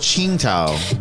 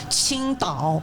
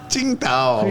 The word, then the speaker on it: Qingdao: Tsingtao. But it's spelled That's an American way to say it, but Chinese way is Qingdao. Qingdao.